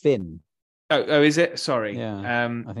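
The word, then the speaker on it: Fionn: And Ffion Whitehead. I think it's pronounced Finn.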